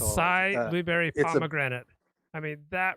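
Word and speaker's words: açaí: the AI um acai how do you pronounce that the aashi blueberry pomegranate asai it's called asai blueberry pomegranate I mean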